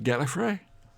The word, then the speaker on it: Gallifrey: oh yes I really said I'm going to Gallifrey notice how I sounded properly say it properly